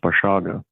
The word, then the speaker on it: Basiago: can find it my name is spelled basiago in multiple it's pronounced bashaga but that is on